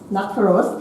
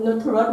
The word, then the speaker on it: Nuttaros: Actually, my name is Natharos, to be correctly pronounced. But it's fine but for many foreigners pronounce in Nutarot maybe off the spelling, but it's fine anyway.